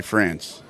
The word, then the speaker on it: France: pronounce your last name uh France France yes I say France whatever works for you